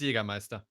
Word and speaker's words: Jägermeister: You just you just Jägermeister. roll. Roll the R.